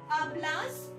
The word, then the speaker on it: hablas: एच हमेशा Spanish में silent रहता है. यो आबलो, आबलास, तू आबलास, यू के साथ हमेशा आबलास.